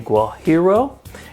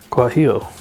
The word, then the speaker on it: guajillo: be using today is a guajiro and I think I pronounced that correctly guajiro guajillo guajillo guajillo guajillo pepper and this is actually